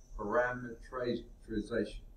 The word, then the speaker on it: parameterization: Vector parameterization. Sometimes I put an extra syllable in there. Called a big parameter, but this is parameterization, parameterization.